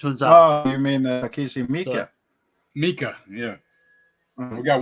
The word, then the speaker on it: Takeshi Miike: Oh, you mean Takeshi Miike?